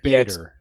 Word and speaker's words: Bader: It's spelled Hold on. Bader.